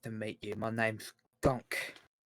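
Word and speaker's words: Gonk: of chips pleased to meet you my name's gunk how would you spell that g-o-n-k ah like the droid yeah with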